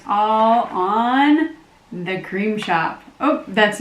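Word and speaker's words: The Crème Shop: So to start off, the Cream Shop, and it's spelled C-R-E-M-E. So if you're Googling it, it's not like C-R-E-A-M.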